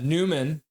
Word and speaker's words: Nyman: And then Newman, even though it's spelled Nyman, ends Hmm.